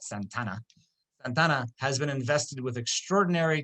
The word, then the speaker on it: Santa Anna: President of the Republic, General Santa Anna, which they would have pronounced that Santana, has been invested with extraordinary dictatorial powers, and a central consolidated government has been established at Mexico City.